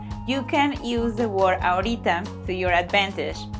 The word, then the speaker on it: ahorita: Did you notice my pronunciation there? When you say ahorita like that, that means that you don't feel like doing it.